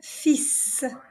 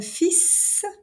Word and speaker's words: fils: Un fils, we mentioned it earlier. So if the L, it's silent. So the L is silent. Un fils, un frère, une grand-mère,